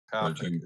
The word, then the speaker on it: Pathak: Pathak is his last name, Pathak. Raj Pathak is the way you pronounce his name.